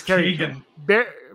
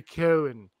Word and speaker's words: Keoghan: I think it's Keegan. No, it's not. It's Barry Keoghan. Keoghan. I just know the G and the H is like kind of silent.